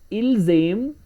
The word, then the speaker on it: ils aiment: Ils aiment, elles aiment, because ent is always silent in French. Ils aiment, elles aiment means they love.